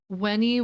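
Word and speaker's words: Veni: written in Latin um weny weny Emmanuel which is um spelled v n I like Oh Come um but in in Latin when you pronounce a v I believe it's pronounced a w so wheny wheny Emmanuel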